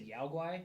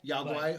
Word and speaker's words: Yao Guai: Is that how you pronounce them? The bears? I always said Yao Guai. Yao Guai?